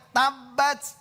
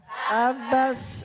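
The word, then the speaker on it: تبت: Ada suaranya hames. Karena ada sifat huruf itu hames lawannya jahr. Understand? Yes. Yes. Yes. Heeh. Makanya bacanya tabbat. Tabbat ya. Coba bareng. 1 2 3. Tabbas.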